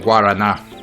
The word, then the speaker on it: guaraná: Guarana. That's how it's spelled. I prefer the Brazilian pronunciation, Guaraná, but that's because I'm stupid.